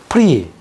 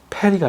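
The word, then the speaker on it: פרי: 말이에요 미 그리고 그다음에 프리 여기서 앞에 오는 것은 베가드 카페트에 붙은이 슈바이 때문에 무성합니다 페리가 아니라 프리를 읽어야 돼요 프리 에프라임 지파가이 프리에서 왔어요 하다시 하다시 하다시 그다음에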